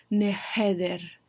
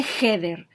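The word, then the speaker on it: הדר: te ves maravilloso acáder no es nether no va con una Head sino con una Hey con una H entonces Recuerden que la H la pronunciación en hebreo es como un suspiro neder none header neder OK Para hacer una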